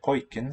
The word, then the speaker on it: pojken: Pojken sounds like boy. Yep, the first syllable.